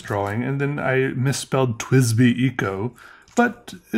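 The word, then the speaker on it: TWSBI: twisby eco but uh in my defense twisby is a weird word as you can see how it's really supposed to be spelled t w s b i uh that's just how i pronounce it i'm not sure if that's even supposed to how you're supposed to say it twist be i have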